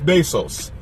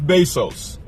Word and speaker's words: Bezos: that made a Jeff besos Jeff besos say it with a little accent because I believe that's how it's pronounced Jeff Bezos the man is the